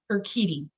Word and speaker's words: Urquidi: introducing myself except that you say my name like her kitty she's taking her cat and her dog with her and her kitty uh that's the phonetic spell sound so um first i